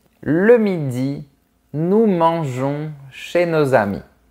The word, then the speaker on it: mangeons: Le midi, nous mangeons chez nos amis. Il ne faut pas oublier d'ajouter la lettre E pour prononcer J. Nous mangeons.